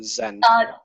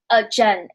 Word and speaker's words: Jen: Is it pronounced Jen or Zen? Jen. It's the same pronunciation as Jen, but I'm Chinese, so like.